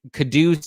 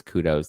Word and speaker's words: kudos: And when I mispronounce kudos, that's a reference to Real Housewives and Ramona Singer. Don't come at me in the comments be like, "It's not kados, it's kudos."